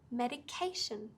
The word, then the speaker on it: medication: more emphasized exactly so with this word medication it's on the third syllable medication now like jay was